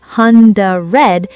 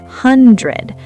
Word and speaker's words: hundred: The stress is on hun. 100. The dread part is insanely fast. It's not hundred. It's hundred.